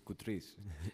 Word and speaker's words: Koutris: good morning doctor noon actually it's coutries just push the button oh I'm sorry how do you say it it's coutries coutries thank you I just I just couldn't read it's in writing it's okay dr.